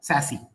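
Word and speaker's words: SASE: so it's actually s a e but it's pronounced as sassy okay so sassy Solutions combine network security functions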